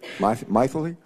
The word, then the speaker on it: Mythili: Our second witness has a name I've never heard before, and her first name is Mythili, right? Mythili? Sort of rhymes with mightily, right?